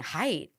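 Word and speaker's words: Haidt: thought it was height I thought it was height but I think it's hate I think he pronounces it hate how do you we need to fact check that we need to fact check that but I'm pretty sure it's hate anyway he wrote anxious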